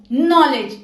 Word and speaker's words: knowledge: के is usually silent when it precedes n in a word, जैसे नी, नो, knowledge, KNEE, नी, knife। K for knowledge, silent K, क्योंकि इसके आगे क्या आ रहा है?